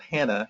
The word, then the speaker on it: HANA: has a product called Hana Hana is hope I'm giving you phonetically spell it's haan a spell it right quick